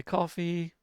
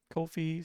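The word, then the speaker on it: Ko-fi: Put it on my coffee. Kofi, sorry. Kofi. I don't know how they're pronouncing it now. It used to be coffee, but apparently they did change it at some point.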